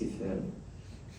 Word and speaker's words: Eiffel: And for those who have trouble with that pronunciation, it's Eiffel. Yes.